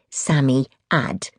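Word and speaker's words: Psammead: He or it was called a Samiad. You pronounced it Sami Aad.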